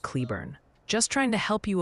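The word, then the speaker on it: Cleburne: And hey, someone named Tony politely suggests Cleburn, Texas is pronounced more like Cleburn.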